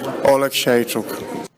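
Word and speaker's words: Oleksiejczuk: Let's hear the fighter, how he pronounces it. Michał Lord Olashechuk.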